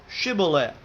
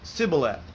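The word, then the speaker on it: Shibboleth: If he said, "Nay," then said they unto him, "Say now, Shibu." And he said, "Sibileth," for he could not frame to pronounce it right.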